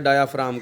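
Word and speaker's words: diaphragm: ये लफ्ज़ डायाफ्रैगम है, इसमें जी साइलेंट है, डायाफ्राम कहेंगे इसको।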